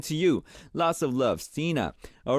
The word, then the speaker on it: Stina: And Stina from Sweden says, Hi Moon, I'm Stina. I pronounce S-E-E, Stina, okay.